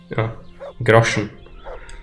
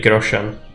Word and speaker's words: Groschen: It's how the people in the game pronounce it. It's kind of difficult to translate a word like that to English, I imagine, so... It sounds really different, but in Czech it's grosze.